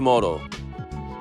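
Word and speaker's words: どおり: sound from the sentence when a noun directly precedes the phrase "toori ni," the pronunciation changes from "toori" to "doori." However, when the particle "no" precedes the phrase, the pronunciation remains "toori ni."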